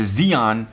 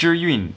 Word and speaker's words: Zhiyun: of a gentleman referring to this as the Zeon it's Chinese it's not his fault it's actually pronounced you're Ewing but that's Chinese is hard can I just